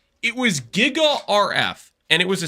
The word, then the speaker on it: giga: okay you guys realize the G is giga is pronounced J right sh a worry